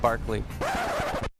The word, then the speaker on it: Berkeley: It's actually supposed to be pronounced Barclay.